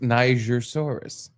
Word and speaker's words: Nigersaurus: And it is pronounced Nigersaurus.